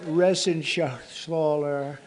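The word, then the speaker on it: Reschenthaler: Shaler you know that resen Scher he uh that's actually the way you pronounce it you know nobody else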